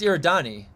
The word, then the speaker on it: Eridani: Is it Eridani? Oh, yeah, it's Eridani. Epsilon Eridani.